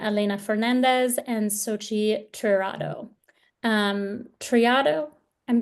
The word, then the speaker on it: Triado: Triado, I'm pronouncing okay, got it.